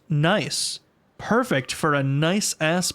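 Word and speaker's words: gneiss: I asked Jack GBT to give me lewd rot jokes and puns and chatbt says nice pronounced nice.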